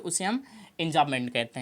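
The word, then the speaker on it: enjambment: B silent होता है, इंजाबमेंट कहें, इंजाबमेंट बोलते हैं।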